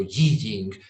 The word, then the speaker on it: I Ching: Es el famoso I Ching, también pronunciado Yi Jing en China, que quiere decir el libro del cambio, el libro de las mutaciones.